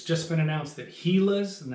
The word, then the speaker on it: Gila: It's just been announced that Gilas, and that's the correct pronunciation because it's named after a lizard that's known as a Gila.